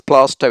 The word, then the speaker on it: Plaistow: It's Bowie, it's Rowling, it's Mannering, it's Plaistow, it's Holborn, it's Glams, it's Magdalene, the Mall, and it's pronunciation.